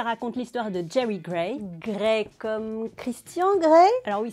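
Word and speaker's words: Grey: cleave et ça raconte l'histoire de jamie gregg gré comme christian gré alors oui ça s'écrit paris mais ça n'a rien à voir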